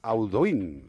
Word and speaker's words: Audouin: Audouin, vale.